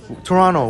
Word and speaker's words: Toronto: And the the the bus tour guy said, "Yeah, the proper pronunciation is Toronto without the tea like you."